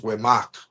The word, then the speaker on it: Humec: So the original pronunciation was Wemak.